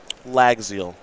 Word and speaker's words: Llagziel: last name against mark schrantz that one's easy lagzil that's how we'll pronounce that now round number 10 here in